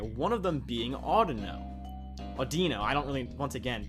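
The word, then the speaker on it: Audino: how to pronounce it I've always pronounced it Odo just cuz it sounds like audio with a no in it but you know what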